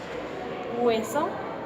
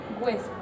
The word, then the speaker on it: hueso: ejemplos por ejemplo hueso Esa es la palabra correcta de pronunciar pero todos estamos mal acostumbrados y pronunciamos la palabra hueso cambiando la H por la W y a la e y no pronunciándose la pronunciación varía